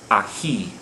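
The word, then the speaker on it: ahí: ends in a vowel ahi okay why do you think this word has a written accent over the final vowel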